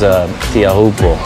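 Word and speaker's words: Teahupo'o: So Tahiti is where we're going to hold the next Olympics at a place called Chopo, which is Tiahupo. Is the proper way to say it.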